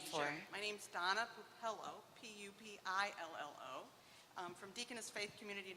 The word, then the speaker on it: Pupillo: Could you please pronounce or spell your name for? Sure. My name's Donna Pupillo, P-U-P-I-L-L-O, from Deaconess Faith Community Nurse Ministries, and